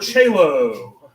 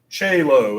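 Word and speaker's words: caelo: long a sound yeah the word chalo that's going to be that h sounds like j-lo what's she doing here the o-e is going to have the same pronunciation and actually in some texts the two will be used interchangeably so we might also run into chelo and it's the same it's pronounced the same one of the things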